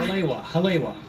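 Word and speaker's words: Haleiwa: Halaiwa.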